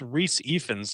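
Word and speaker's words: Rhys Ifans: something um that is actually uh pronounced not pronounced it's Reese epens that's in the movie um oh sorry about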